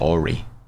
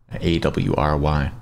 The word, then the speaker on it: awry: camelot kings that went awry just not pronounced ori in case any of you have only ever seen it written down a w roy i know that i